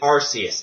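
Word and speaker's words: Arceus: in CNO the creation Trio in arus I pronounce it arus it just sounds better to me I know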